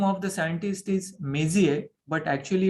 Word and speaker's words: Messier: The name of the scientist is Messier, but actually it's spelled as Messier, Messier.